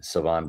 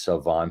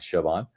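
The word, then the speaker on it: Shavon: We have a cornerback for now and also the future in Savon Ravel. Yes, the H is silent. It is Savon, folks. It's not Chavon.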